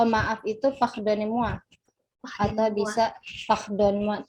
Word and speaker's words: pardonnez-moi: Atau bisa pardon-moi. Tulisannya itu pardonnez-moi. Pardonnez-moi. Bacanya pardon-moi. Pardonnez-moi.